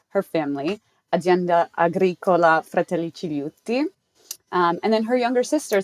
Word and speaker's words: Cigliuti: First of all, I apologize for my last name, which is so complicated to pronounce. It's Cigliuti.